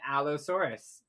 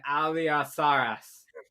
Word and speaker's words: allosaurus: acrobatics okay so you turn and you clean allosaurus or as you pronounce it an alliasaurus or saucerus are those are those the big